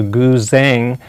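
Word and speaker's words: guzheng: actually had asian instruments especially the chinese zither pronounced the goo zheng into my keyboard and then i came up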